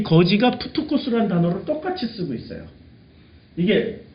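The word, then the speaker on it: πτωχός: 그러니까 이게 피읍 발음 나요. 그 다음에 티, 똑같은 티예요. 요게 오예요. 다만. 오. 푸토. 이게 X는 이렇게, X는 바로 자음 모음 아니면 코스로 읽죠?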